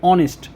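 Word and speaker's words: honest: বন্ধুরা এখানে এইচ ও এন ই এস টি অনেস্ট এখানে উচ্চারণটি দেখো কি হয়েছে অনেস্ট বাংলাতে দেখো এখানে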